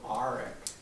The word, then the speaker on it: Arick: Grandpa, this guy right here, he always said Grandma's name Arick, a very guttural Arick.